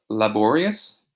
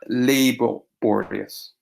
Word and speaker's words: laborious: particular attention to this word here the correct pronunciation is laborious not laborious laborious also pay attention to this one here